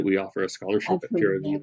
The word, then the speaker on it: Pura Vida: And there's one group that we work with here in Santa Rosa called Pura Vida, that we offer a scholarship at Pura Vida. How do you pronounce that?